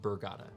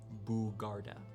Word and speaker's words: Bugarda: Yes, not Burgada. Like the rum. Bugarda. Oh, so my U and my R flipped.